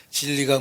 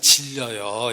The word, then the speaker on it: 진리: 니다 라고 선언되어 있습니다 발음을 잘 하셔야 됩니다 아버지의 말씀은 질려요 이런 뜻이 안 됩니다 아 성격 주식 아닌 안에 진료소 가 잃으면 안됩니다 아버지의 말씀은 진리입니다 예 이 진리가 달러로 그